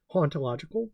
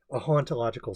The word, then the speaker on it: hauntological: And he says the H is silent for haunt in French.